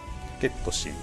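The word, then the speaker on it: ケット・シー: How do you pronounce this character's name? ゲットシー。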